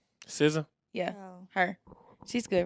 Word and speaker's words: SZA: It's SZA. SZA.